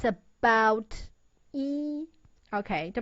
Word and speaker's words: 一: When E is followed by a syllable in the first, second, or third tone, it changes into the fourth tone.